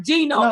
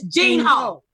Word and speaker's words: Gene Ho: But it's not Gino, it's Gene Ho.